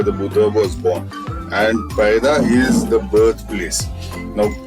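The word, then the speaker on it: पैदा: And Paida is the birthplace. Now, it is written Paida, which means birth, but it is pronounced Paira, which means feet.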